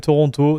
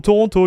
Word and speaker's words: Toronto: Okay, so we are in Toronto, not Detroit.